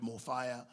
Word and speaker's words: Mofaya: You can pronounce it in any language because it's not fire as in f i re e. It's fire f a ya.